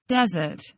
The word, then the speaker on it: desert: พยายามออกเสียงตาม audio นะคะคำต่อมาคำว่า Desert.